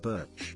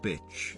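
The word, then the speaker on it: Bič: Birch. So I corrected them. My surname is Bick, Czech noun meaning a whip, happens to be pronounced just like bitch.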